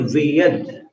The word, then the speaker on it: वियद: बिंबम, बिंबम व में मिलाना, बिंबम, फिर वियद, वियद द पर रुकना, विलस, विलसदंश, विलसदंश ऐसा उच्चारण करना, विलसदंश, बिंबम वियद विलसदंश लतावितानम।